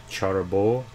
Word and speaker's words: Cherbourg: i think it's like charter bowl or something like that you don't say the g at the end usually with french you